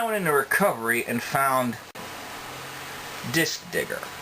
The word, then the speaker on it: DiskDigger: into recovery and found disk digger that's disk d-i-s-k digger d-i-g-g-e-r just so no one gets any assumptions about mistaken pronunciation just so we're all